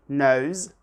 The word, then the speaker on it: knows: knows the answer, and here the S is pronounced Z, so be careful. So I repeat the answer. We say somebody knows the answer.